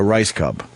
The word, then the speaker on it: Rajskub: So, how does R A J S K U B turn into Rice Cub? I'm not at That's amazing. The J is silent.